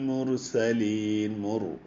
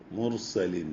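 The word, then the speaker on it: مرسلين: എന്ന് ഉച്ചരിക്കണം അൽ ഹിജ്റിൽ മുർസലീൻ മുർസലീൻ റ ഈ റ കനം കൂട്ടി ഉച്ചരിക്കുക രണ്ട് റ വ്യത്യാസത്തിലാണ് വന്നിട്ടുള്ളത് ഒന്ന്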